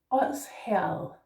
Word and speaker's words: Odsherred: First off, the first D is soft, and that means it becomes os.